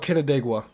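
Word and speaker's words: Canandaigua: end of warning summary it's called kenua okay that's how you pronounce it I was wondering how you pronounce that Town's name so if you live in kedua in New York you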